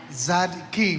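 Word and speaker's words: צדיקים: tzaddikim. டி வராது, D silent. So z தான் z சவுண்டா வரும். ஆமா, சொல்லுங்க. நம்ம ஜனங்க சொல்லிட்டோம். tzaddikim. ஆமா, எல்லாருக்கும் எபிரேயம் கத்து கொடுக்குறோம் நாங்க இப்போ. தோத்திரம். tzaddikim சொல்லுங்க. tzaddikim.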